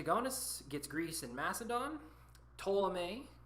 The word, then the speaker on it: Ptolemy: gets Greece and Macedon ptolemee with the P is silent gets Egypt so Lucis